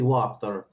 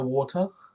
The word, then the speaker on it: Wachter: So you said Fiona Water? Wachter, I'm going to spell that out for you. Wachter. You got it right.